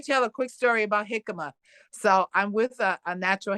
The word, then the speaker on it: jicama: to know I um jicama is that one yeah am I saying it right yes yes it's actually like spelled with a J you know right like yeah please j i c a m a oh okay yeah